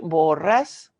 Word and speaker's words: Borràs: Borràs? Yes, with the accent on the A.